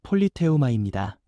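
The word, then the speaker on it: πολίτευμα: 여기서 시민권이라는 말은 헬라어 발음으로 폴리테우마입니다.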